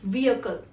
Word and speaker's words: vehicle: Do you pronounce it as vehicle or vehicle or even vehicle? The correct pronunciation of this word would be vehicle.